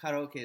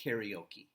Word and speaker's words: karaoke: okay by the way in English karaoke is often pronounced karaoke but you know it's from the Japanese word but just with a different pronunciation okay now let's listen